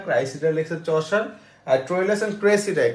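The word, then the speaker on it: Criseyde: ঠিক করেন এটা উচ্চারণ ক্রাইসিডা ক্রাইসিডা লিখছে চশার ট্রইলেস এন্ড ক্রেসিডাই ক্রেসিডা লিখছে আমাদের বড় ভাই শেক্সপিয়ার হ্যাঁ উচ্চারণের ভিন্ন আছে বানানো ভিন্ন এটা ক্রাই এটা হচ্ছে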